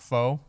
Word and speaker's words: pho: before anybody thinks anything different, I know it's pronounced pho.